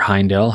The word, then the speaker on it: Heindel: and modern initiation by max hindle or heindel however you'd like to pronounce that we are going to